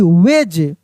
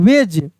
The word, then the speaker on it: wedge: SMUDGE smudge, smudge, ठीक ना, डी का उच्चारण नहीं हो रहा है। WEDGE वेज, क्या पढ़ रहे हैं हम लोग? वेज।